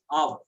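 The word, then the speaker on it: אב: In Hebrew, if we see, it is the root word used for father is Av.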